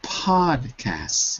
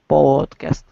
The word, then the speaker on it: podcast: words supposedly supposedly and podcast not pod but pod podcast careful because it sounds like an O but in this case the short sound of O when there's only